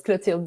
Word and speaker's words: Clotilde: to say yeah but if you can pronounce your name properly for me yes so it's clutiled words yeah i know it's a tricky one